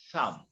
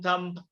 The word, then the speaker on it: thumb: in when in english when m and b come together we don't pronounce the b so how do you pronounce tom thumb a thumb i think